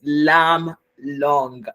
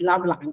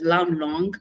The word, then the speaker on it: Lammlangue: there and telling everyone it is lamb long so thank you said